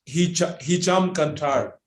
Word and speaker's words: Hicham Kantar: How do you pronounce this? Hicham Kantar. Hicham.